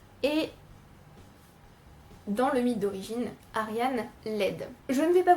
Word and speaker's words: Ariane: Alors je vais dire Ariane, et pas Ariadne ou Ariane, parce que l'autrice a choisi d'écrire les mots avec, il me semble, la prononciation grecque, donc je vais dire